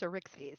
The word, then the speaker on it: Arixphes: It's pronounced Arixphes.